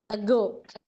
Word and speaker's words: ago: small words like ago ago is said to die syllabic word only two syllables even then we give stress to go ago when you pronounce and feel that uh i is pronounced uh less whereas go is pronounced hard so that that is